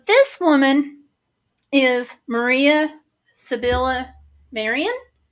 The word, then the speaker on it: Maria: So this woman is Maria Sibylla Marian, Maria. So some people pronounce it Mariah.